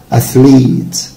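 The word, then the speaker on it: athlete: أثليت، طبعا دي حبيبي ما اسمهاش أثليت، أثليت. It's long E، أثليت، أثليت.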